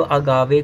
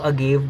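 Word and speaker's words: Agave: हाँ, और कुछ लोग अगावे को अगेव बोलते हैं यहाँ पे, यू नो जी के बाद ई है तो अगावे को अगेव बोलते हैं, लेकिन मुझे बहुत अजीब लगता है।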